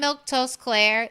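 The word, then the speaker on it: Milquetoast Claire: Once again, I'm Milktoast Claire. That's how you say my name.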